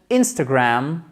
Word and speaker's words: Instagram: contenu exclusif, le compte Instagram. Il ne faut pas, vous voyez ça, c'est tout bête, mais peut-être que vous n'osez pas dire Instagram avec l'accent tonique sur la première syllabe parce que vous dites